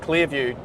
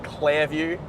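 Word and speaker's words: Clairview: Clear View or CL Clare View. Say it properly. Claire View.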